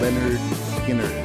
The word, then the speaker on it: Lynyrd Skynyrd: their debut studio album pronounce Leonard Skinner that's right i'me as